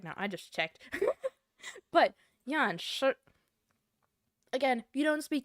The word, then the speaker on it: Yan Shi: So the correct pronunciation would be Yanshi. Yanshi. My eyes look cursed right now. I just checked. But Yanshi. Again, if you don't speak Chinese, just say Yanxi, please.